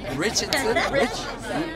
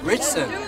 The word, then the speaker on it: Ritchson: Alan Ritchson. Yeah, Alan Ritchson. Ritchson, right? Richardson? Ritchson.